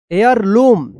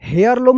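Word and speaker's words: heirloom: bridge they talked for a long time and crossed a wooden bridge near the bridge they found a family एयर लम यहां पे देखिए हेयर लम नहीं होगा एयर लम होगा एयर लम एयर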